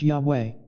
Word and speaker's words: Yahweh: four-letter word and when translated they become Yahweh pronounced Yahweh this is the name that is so holy